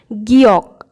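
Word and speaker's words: 기역: প্রথমেই যে ব্যঞ্জনবর্ণটি রয়েছে সেটির নাম হলো গিয়ক। এর নাম গিয়ক। এটি দেখতে অনেকটা উল্টো এলের মতো, আর এর যে উচ্চারণটি আমাদের বাংলা ভাষার যে খ আমরা উচ্চারণ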